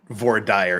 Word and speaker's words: voir dire: I will argue that Vor Dyer is not an incorrect pronunciation. Regardless of what the rest of Utah and Idaho are the only ones that matter. I think Arizona may pronounce it that way too, but it's a French term. It's not how you say it in French.